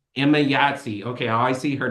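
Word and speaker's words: Emayatzy: Emma Yahtzee. Emma Yahtzee. Okay, I always see her name. I didn't know how to pronounce it.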